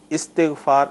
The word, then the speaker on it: استغفار: اللہ پڑھیں گے، صحیح، ورنہ استغفار صحیح تلفظ یہی ہے۔ ٹھیک ہے، یعنی